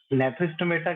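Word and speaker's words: Gnathostomata: ठीक है जी, यहाँ पर साइलेंट है तो आप ग्नैथोस्टोमेटा पढ़ो। ठीक है, तो नेथोस्टोमेटा के अंदर क्या होता है बेटा, जॉ प्रेजेंट होते हैं।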